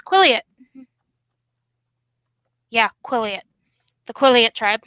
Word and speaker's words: Quileute: And it's pronounced as Quileute.